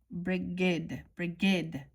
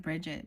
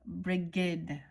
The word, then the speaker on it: Brigid: Brigid. Sorry. I always want to say like Bridget, but Brigid. Okay.